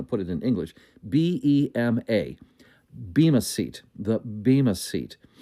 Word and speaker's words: Bema: It's spelled, if we were going to put it in English, B-E-M-A.